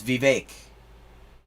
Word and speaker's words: Vivek: I wonder if he's ever going to pronounce the name right. It's Vivek.